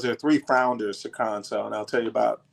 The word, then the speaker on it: Khonso: So, tell me the pronunciation of the brand. Got it. Our name is Conso Brewing.